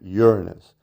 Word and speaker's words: Uranus: view of the planet Uranus and that's its proper pronunciation all planets are properly pronounced with the accent on the first syllable right it's Saturn not